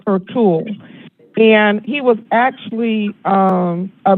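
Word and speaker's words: Ertuğrul: Ertugrul, and it's spelled Ertugrul, but it's pronounced Ertugrul.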